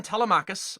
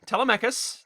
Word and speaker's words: Telemachus: has a newborn son Telemachus or Telemachus depending on where you put the syllable or syllable and he didn't want